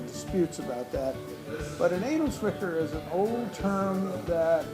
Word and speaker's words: Edelzwicker: Edelwicker? Edelzwicker.